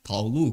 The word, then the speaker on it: taulu: Pronunci novamente taulu. Taulu. o T de quem é nativo, né, digamos assim, de origem, você percebe que tem o squeak, é muito legal esse pron.